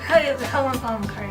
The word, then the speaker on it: Helena Bonham Carter: Helena Bonham Carter, yes. Is that how you pronounce it?